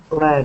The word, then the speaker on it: led: him okay okay so instead of lead it is lead here lead okay exactly just like a red yes exactly exactly